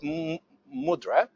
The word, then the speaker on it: MUDRA: We've got favorable reviews, and we've called it MUDRA. That's how you say it, MUDRA, something like this.